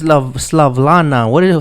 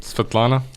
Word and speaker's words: Svetlana: This Slavlana. How do you pronounce it? Svetlana.